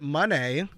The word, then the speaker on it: Moné: guest TBS Champion Mercedes you pronounce it Monee Monee let's just jump right into